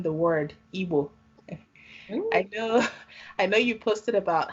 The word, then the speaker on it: Igbo: gotten pronouncing the word Igbo. I know you posted about how the pronunciation and spelling of our culture and our people is not Igbo, I-B-O. Igbo is the way it's spelled and pronounced.